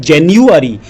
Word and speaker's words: January: देखें ताकि आप इंग्लिश में उनकी स्पेलिंग और प्रोनाउंसिएशन ठीक से कर पाएँ। तो पहला महीना है JANUARY, जिसको बोलते हैं जेन्युअरी।